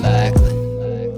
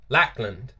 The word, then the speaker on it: Lackland: Also, it's funny how when people say Lackland, you don't ever really pronounce the D. Lackland. You say Lackland. Even I say it, Lackland. It just seems easier, Lackland. But obviously there's a D. It's just, I don't know why, it's just hard to pronounce that D when you say that word.